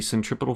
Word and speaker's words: centripetal: The answer is, in fact, technically true because the centripetal force, that is how you pronounce that, by the way, do not come at me in the comments.